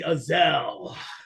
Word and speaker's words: Azell: You got Azell right, and that's all that matters.